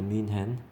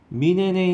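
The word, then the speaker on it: München: Part of a fleet of taxicabs in Munich 이렇게 되는데, 또는 뮤닉 그렇게 발음하는데, 얘는 독일식 발음은 민헨입니다. 민헨. 민헨에 있는 택시들의 전단, 함대라는 뜻이 원래 바다에 있는 막 2, 30척 되는 배들의 함대를 말해요.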